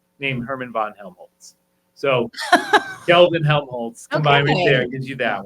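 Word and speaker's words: Kelvin-Helmholtz: want me just go for it can you pronounce it I can okay it is Kelvin helmholtz clouds Kelvin Helm hes clouds yeah so they're named after two people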